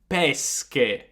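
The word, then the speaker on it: pesche: words we've studied today now peshe means fish but if you add an h in there then you would read it as peske pesque so we've got peshe and pesque peshe means fish but peske means peaches so again it's very important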